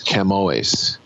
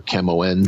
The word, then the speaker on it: Camões: I always mispronounce it. It's Camões or Camoens.